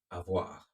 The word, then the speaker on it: avoir: It's called the être and the avoir. I say that again, the être and the avoir.